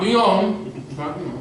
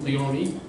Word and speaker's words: Leone: Not Leone, Leone.